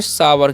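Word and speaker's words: sour: है अग एसओ य क्या पढ़ेंगे सावर क्या पढ़ते हैं इसे सावर पढ़ते हैं क्योंकि ओ यू का उच्चारण यहां पर आ होता है ठीक है तो सावर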